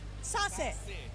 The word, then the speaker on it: Seicha: How do you pronounce the name? Sassy. Sassy?